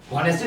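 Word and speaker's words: honesty: अ ऑनेस्टी अ honoured अब आप देखो ऑनेस्टी थोना होते है हन थोना होता है एच साइलेंट है तो ये ओ से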